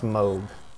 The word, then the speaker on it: Moog: First off, it's pronounced Moog.